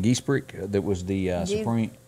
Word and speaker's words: Ginsburg: How do you pronounce that lady's name? Geesbrick? That was the Supreme... Ginsburg. Isn't that right? Ginsburg.